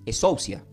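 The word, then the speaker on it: ἐξουσία: O se puede pronunciar como exousia.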